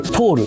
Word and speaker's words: THOR: THOR トールと読むんですけど